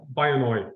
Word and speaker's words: Byonoy: if we were to switch now to uh by annoy and I assume I'm pronouncing that correctly yeah you are actually which